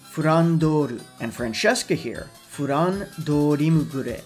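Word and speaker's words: フランドール: For those unaware, Flandre's original Japanese pronunciation is actually Furandoru, and Francesca here, Furan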